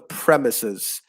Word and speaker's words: premises: was premises so yeah the stress in that word is on the first syllable the premises of uh you know